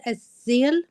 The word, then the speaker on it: Aseel: First of all, someone pronounced Aseel, but it's Aseel with an S, not a Z, okay?